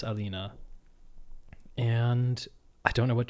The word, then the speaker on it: Aline: Um, I'm assuming the name is pronounced Alina in like I would pronounce it that way in German, Alina, but I think French has similar L's and maybe the same way the E would show up.